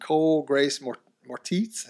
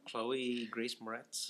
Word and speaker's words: Chloe Grace Moretz: Well, they're putting a new spin on it, starring Denzel Washington, Martin Kokoskis, and Cole Grace Moretz. Is that how you say her name? Chloe Grace Moretz.